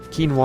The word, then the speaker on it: quinoa: grass lots of potatoes koi know what quinoa I think is the way it's pronounced for real I definitely wish there